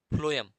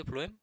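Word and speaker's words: phloem: इसमें मुख्य बात यह है कि 'P' का अर्थ फ्लोएम और 'F' का अर्थ भोजन है ( फ्लोएम में इसका उच्चारण 'Ph' की तरह होता है)।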